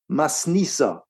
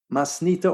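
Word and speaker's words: מתניתא: There is another word that is similar to it that is Aramaic which means or is pronounced masnissa masnita or masnita which is essentially the Aramaic version of of Mishna and it too refers to Mishna.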